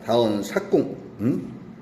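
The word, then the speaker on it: 多言數窮: 그래서 여기서는 다원 수궁이 아니라 삭궁이라고 읽어야 될 겁니다. 다원 삭궁.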